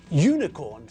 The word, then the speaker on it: unicorn: starts with a consonant unicorn sounds like it has a Y sound so we say a